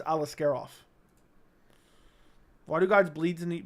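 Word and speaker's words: Aliskerov: and that's correct and alisker off it's alasker off he said alisker off but it's alasker off that's how John annik pronounces him so I'm assuming that's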